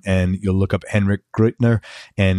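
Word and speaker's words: Gruettner: loves guitar calm and you'll look up henrik great nur and it's right there next to his name and his hendrix poses last name g ru e TT ner and it's pronounced great nur and the band is touring as as of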